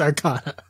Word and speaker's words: Arcanine: I don't know if it's Arcana or if it's Arcanine. Like, I can't tell with the spelling. But continue. The pronunciation guide says it's Arcana.